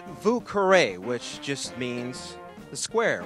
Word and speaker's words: Vieux: because of that reason actually it's Vu which just means the